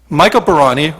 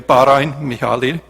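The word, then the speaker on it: Barány Mihály: father's end of life michael barani or as it's pronounced in hungarian bahrain mihali was born in 1921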